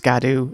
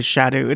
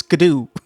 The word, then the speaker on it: Scadu: They took too long to tell people it's pronounced Scadoo or Shadow. No, it's Scadoo.